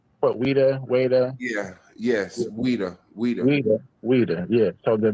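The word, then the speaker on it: Ouidah: Weda weda.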